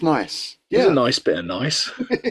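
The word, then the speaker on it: gneiss: thing right and it's it's spelled g n e i SS and it's pronounced nice nice nice nice yeah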